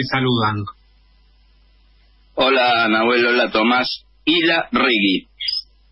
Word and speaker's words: Ilarregui: Isla Regui. Vasco igual como lo pronunciase, pero Isla Regui.